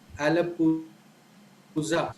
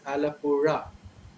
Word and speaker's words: Alappuzha: And there's a place in Kerala called Alappuzha. People, most people who are not aware of this sound pronounce it as Alappura.